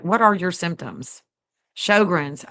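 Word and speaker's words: Sjögren's: Shogrins. Okay. Is how it's pronounced.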